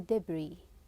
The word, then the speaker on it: debris: T tornado maturite or debris the S here is silent let's start reading number